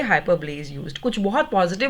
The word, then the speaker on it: hyperbole: Next, हाइपरबली. Spellings note कीजिए, HYPERBOLE. इसको हाइपर बोल नहीं बोलना है, इसकी प्रोनाउंसिएशन है हाइपरब्ली. Please repeat, हाइपरब्ली.